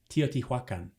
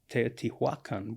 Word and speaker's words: Teotihuacan: I think that's very good, but I'm told by my Mexican colleague that even Mexican scholars don't always pronounce it quite. There's Teotihuacan, which she tells me is better, but you hear Teotihuacan. Anyway, Teotihuacan.